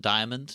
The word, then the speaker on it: Diamond: And Joseph Diamond, I actually found out that is the pronunciation, Diamond, not Diamond or anything. Diamond.